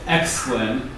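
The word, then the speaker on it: Oechslin: rainbow tables was uh philip exclaim uh as far as i can tell that's the pronunciation of his name i did research it i'm not sure about it though proposed an improvement in 2003.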